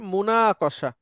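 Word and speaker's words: مناقشة: আচ্ছা, এরপরে একটা শব্দ আসছে, এই শব্দ আমরা খুব কম বলেছি, এটা মুনাকশা। মুনাকশা এক বচন, যার যার জায়গা থেকে মুনাকশা। একটু উচ্চারণ করে নেবেন।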